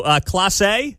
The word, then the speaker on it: Clase: So Clase is how you say his name?